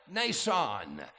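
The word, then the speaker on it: Mnason: there's this elderly man the m is silent Nan he was of Cyprus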